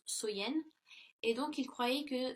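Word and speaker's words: Samhain: longue nuit de l'année donc était samen donc qui est prononcé qui se prononce soyen et donc il croyait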